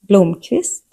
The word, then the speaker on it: Blomqvist: hej kavaj Q is rare in modern Swedish. It mostly appears in surnames or borrowed words and usually sounds like a hard K, often written as KV or QV. Examples. Blomqvist Palmquist The letter R